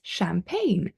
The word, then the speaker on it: champagne: a silent G so G is often not pronounced when followed by an N followed by an N so one of my favorite drinks is champagne from the Champagne region in France so we don't pronounce the G okay we don't say